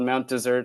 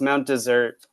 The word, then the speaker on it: Mount Desert: set of poems called Mount desert I pronounce it wrong because I'm a jerk uh but it's Mount desert uh as and then